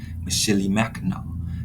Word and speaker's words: Mishinimaki: Mackinac Island is a shortened version of the Native American name pronounced Mishinimaki. The Anishinaabe people named this area, and Mackinac Island, Mishinimaki, meaning place of the great turtle.